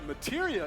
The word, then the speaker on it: Materia: Using an item in battle will deplete an ATB charge, and if Cloud has the right materia equipped and Oh, that's how it's pronounced.